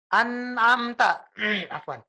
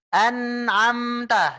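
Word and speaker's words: أنعمت: itu Bu siisa Bu Bacanya jangan anamtaan mengalir Bu Ya anamta dicoba buina setiap sukun ya Ibu usahakan ditekan dulu Bu ditekan Anam an n-nya dibanyakin Bu an am m-nya dibanyakin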